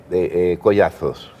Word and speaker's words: Collazos: Yo tuve un enorme problema, es decir, la única concesión que hice era pronunciar la Z. Y pronunciaba la Z para que mi apellido no lo escribieran con S.